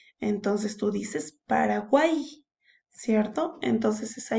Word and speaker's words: Paraguay: Pero hay una norma que nos dice que la Y al final de una sílaba siempre suena como una I. Entonces tú dices Paraguay, ¿cierto?